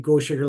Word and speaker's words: Gochager: So at the moment, we've moved from Albert Lake, and then we went south to the Gochager Lake Project.